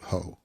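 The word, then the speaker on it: Heaux: ended with a plea for everyone to vote Hough. And Hough is spelled H-E-A-U-X.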